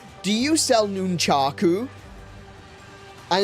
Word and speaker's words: nunchaku: says, "Do you sell nunchaku?" And it's like, "No one says nunaku." It's nunchaku. Even if you were to put it into a Japanese accent, you wouldn't say nunchaku.